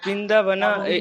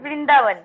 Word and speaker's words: বৃন্দাবন: ইংলিশে আলাদা কোনো রকম উচ্চারণ নেই।